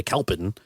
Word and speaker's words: Kalpen: first language, and so you're going to say Kulpen turns into Kalpen. Sure. That's not wrong necessarily.